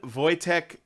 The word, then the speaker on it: Wojtek: the area, she tells us, okay, Simon is pronounced Shimon. Their names are Shimon, Wojtek, and Marcian.